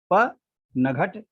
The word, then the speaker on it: पनघट: जैसे पनघट है, पनघट। अब कोई कहे नहीं प नघट, ऐसा उच्चारण कभी हो ही नहीं सकता, पनघट नहीं हो सकता, पनघट होगा।